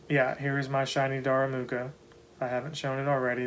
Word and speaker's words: Darumaka: you say it looking at the spelling now darumaka so yeah i did get the tur twig